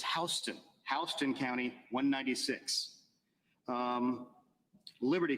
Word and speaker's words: Houston: is another fun one it's not Houston in Georgia it's Houston Houston County 196.